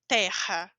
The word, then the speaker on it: Terra: se está ao início eu digo o t normal Terra lembra da pronúncia da garganta Terra quando está dentro da